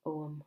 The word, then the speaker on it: Ogham: live in Omagh, and Ogham and Omagh are the same letters, only in a different way, and the GH is silent in both.